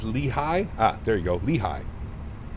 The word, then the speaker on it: Lehigh: Pronounced Lehigh.